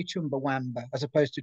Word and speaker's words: Chumbawamba: um first question actually do people ever say chumbawamba as opposed to chumbawumba i was i was going to jump in